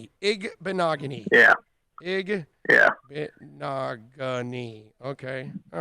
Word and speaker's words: Igbinoghene: So first of all, how do you pronounce Noah's last name again? Igbinoghene. Igbinoghene.